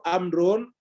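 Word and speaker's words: عمرو: Jadi kalau tidak ada wawunya, Umar bacanya. Kalau ada wawunya, amr. Jadi amr atau Umar tergantung wawunya.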